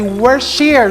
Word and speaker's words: Worcestershire: ketchup that has a Worcestershire sauce. My pronunciation is already correct, okay? As they say that the correct pronunciation is wu·stuh·shuh.